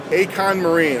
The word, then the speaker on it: Accon Marine: Accon Marine, I pronounced it correct.